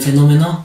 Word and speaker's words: fenómeno: ¿Dónde lleva tilde? Enví. ¿Por qué? Porque lleva mayor fuerza de voz.